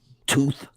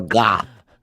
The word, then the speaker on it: Thoth: called to or or tho it's pronounced tooth or goth and he's he's the